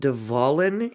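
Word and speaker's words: De Wallen: Amsterdam's red light district it's called devolin in Dutch so it's w-a-l-l-e-n and I know that they pronounce their W's like V's okay so I hope I said that correctly hahaha um and it's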